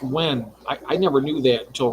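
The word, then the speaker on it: Nguyen: I know it's N-U-G, but it's pronounced Wen.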